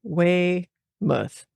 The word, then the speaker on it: Weymouth: And so I wrote out phonetically Weymouth.